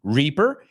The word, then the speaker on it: reaper: Reaper, I. Esa es fácil para los españoles, porque hacéis la I siempre.